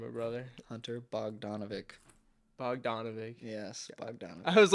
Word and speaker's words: Bogdanovic: here with my buddy Hunter how do you pronounce your last name or brother Hunter bovic B donovic yes bovic I was like doing so many